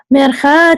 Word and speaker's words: mercha: Now mercha is two syllables. Mercha, but et is only one. Et, right? So we're actually dropping the first part of mercha. We're not saying mer. We're only saying the second part, which goes cha.